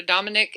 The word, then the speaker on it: Dominic: How do you say your name? Dominic. Dominic. Yeah. Dominic. Just very easily.